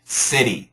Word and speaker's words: city: And in America, we have that flap t, so it sounds more like city. city. It sounds more like a a D sound.